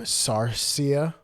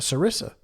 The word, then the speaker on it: sarissa: stonefish go into a sarcia or sorry see uh excuse me a sorry saw a sarisa spelled like Marissa with an S at the beginning is that a um